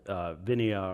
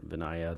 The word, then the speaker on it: Vinaya: Anyway, that's called Vinaya or Vinaya, depending on how people are pronouncing it.